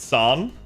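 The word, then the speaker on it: 三: Again, for those of you guys that don't know, three in Japanese is pronounced son in the same way that uh when we call him Tusan as an honorific.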